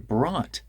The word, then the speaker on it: brought: up just brought up now that t in brat turns into a tap just brought up brought